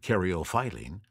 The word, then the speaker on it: caryophyllene: And now we come to caryophyllene, and I have also heard an alternate pronunciation of this, so I'll throw that out as well, and caryophyllene. So caryophyllene or caryophyllene. Either way, it's best known for its spicy and peppery note. I prefer caryophyllene.